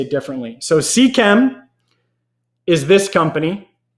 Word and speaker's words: Seachem: Let's see, what's the right way to pronounce Seachem or Ceche? Here you say it differently. So Seachem is this company, right? Seachem.